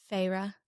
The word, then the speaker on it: Feyre: Although I will say I feel like Audible was very humbling for me in my pronunciation of all the characters' names. Okay, how do they say Feyre? Feyre.